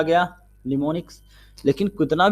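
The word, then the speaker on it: mnemonics: Spelling है MNEMNICS, बट उसको कहते क्या, निमोनिक्स की जरूरत पड़ी है, निमोनिक्स बनाए गए।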